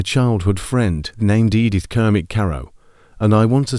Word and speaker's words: Carow: Before Alice, there'd been a childhood friend named Edith Kermit Carow. And I want to say her name correctly because you will see it mangled constantly. Edith Kermit Carow, not Carroll.